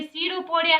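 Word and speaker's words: pseudopodia: क्योंकि इसकी ये जो पी यहाँ पे साइलेंट रहता है बेटा, ये सीडोपोडिया है।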